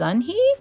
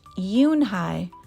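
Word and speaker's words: Yoon-hee: "Your name is Unhee?" he asked her with his eyes open wide. Yoonhai looked quickly at Mr. Kim, then turned to Joey. She nodded slowly. "Yes, it's pronounced Yoonhai."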